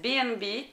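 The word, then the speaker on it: B&B: atelier breton la chaîne qui se prononce à la anglaise bnb comme bad and breakfast s'est tout de suite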